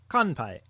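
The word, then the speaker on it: 乾杯: Here's what it sounds like: And in context, here is the word for cheers in Japanese, which uses the nasal sound: kanpai.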